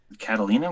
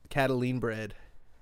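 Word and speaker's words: Catalinbread: Catalina was the brand? Is that the make? Catalin bred. Oh, Catalin bread. Oh, okay. Yeah, I think I'm saying it wrong.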